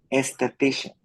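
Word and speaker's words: aesthetician: is, She she's also and, an ah, ok, cuando veas la A y la E juntas, se pronuncia como E, esthetician.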